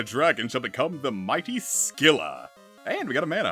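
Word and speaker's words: Scylla: shall become the mighty skilla and we got a Mana up I actually thought it was pronounced Sila but I looked it up you you pronounce the C here unlike Scimitar septile get power speed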